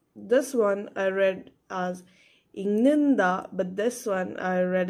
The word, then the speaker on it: 읽는다: So be careful of the of differences like that.